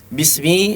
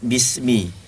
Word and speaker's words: bismi: Bismi semuanya kalimat atau huruf-huruf tipis, diucapkan dengan tipis, bismi. Tidak perlu ditegangkan bismi, ya, tidak perlu tegangkan lidahnya.